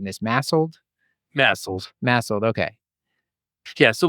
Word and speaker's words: MASLD: could be masl massel what how are we pronouncing this massel massel massel okay yeah so let's get into